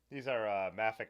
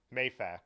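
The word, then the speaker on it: Mafac: Yeah, these are Mafic competitions. So, Mayfac competitions, as I've learned how they're actually called.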